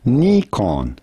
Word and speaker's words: Nikon: with the Nikon Z the original pronunciation from Japan in Japanese is Nikon Nikon and this is the